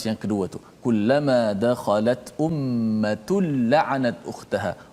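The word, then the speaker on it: أُمَّةٌ: Ummatul tanwin berjumpa dengan lam. Lam adalah huruf idgham bila gunnah. Maka cara baca itu, tanwin tu dimasukkan dalam lam secara total. Maknanya tidak ada lagi tanwin nun tu. Ummatun dah tak ada dah. Tak boleh baca ummatun la, tak boleh.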